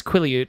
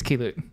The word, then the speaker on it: Keelut: Which I had mispronounced after looking it up so specifically in the first episode as Quilliute. It's not. It's Keelut.